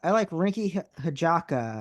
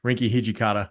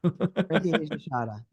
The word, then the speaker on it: Rinky Hijikata: And I like Rinky Hijaka. I don't know how to say his name. Bro. Yeah, you just had the two same picks I did. Rinky Hijikata. Rinky Hijikata.